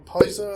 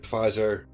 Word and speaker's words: Pizer: Charlie Pfizer, or Pizer, I think they pronounce it. Lieutenant Pizer.